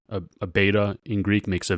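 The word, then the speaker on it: βήτα: And then the B of Vita, a beta in Greek makes a V sound in English, Vita.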